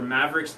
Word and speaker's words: Maveriqs: out on YouTube for Mavericks II know and it's spelled ma vie er IQs but at the end